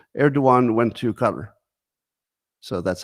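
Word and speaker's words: Erdoğan: too much trust speaking of trust turkey's leader erduan and I like I like pronouncing his name correctly because it makes me sound like I know more than I do yes uh eruan who recently visited a cutter because you call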